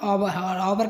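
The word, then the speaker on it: hour: एच के बाद ओ आने पर, जहाँ भी एच के बाद में ओ आए वहाँ एच साइलेंट होता है। ऑनर का मतलब होता है सम्मान, ऑवर का मतलब होता है घंटा, होनेस्ट का ईमानदार, और अम्बन का विनम्र।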